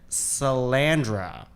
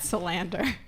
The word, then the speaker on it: Salander: We have Lisbeth Salandra. Yes? No, that's so wrong. Lies? Who is it? Lisbeth Salander. Salander. Yeah, Wow. I mean, even I'm probably saying it wrong, but you said it really wrong.